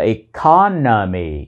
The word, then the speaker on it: economy: Vậy nên, tính từ được phát âm là "economic," và danh từ là "economy." "Economy" cũng là một từ có bốn âm tiết, với trọng âm rơi vào âm tiết thứ hai.